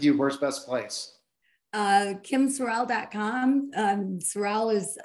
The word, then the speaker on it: Sorrell: Sorrell is spelled S-O-R-R-E-L-L-E.